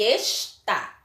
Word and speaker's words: está: Observe que nas duas palavras, a última sílaba foi pronunciada com mais intensidade.